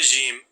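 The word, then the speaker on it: ج: mouth the sound of the letter Jim is similar to the sound of J in English as in the word Jam J in Jim and J in Jam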